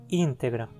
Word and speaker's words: integra: Mais uma, íntegra ou integra. Assim como em português, sequências do tipo GR, PR, BL, TL, etc. ficam sempre na mesma sílaba. Então, se separarmos, a penúltima sílaba é T, não termina em consoante e, portanto, a palavra é proparoxítona, íntegra.